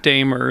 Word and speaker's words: Damer: If you're French, it's Damer, but... Is that how your family pronounces it? Is that like the correct way? Damer is the best.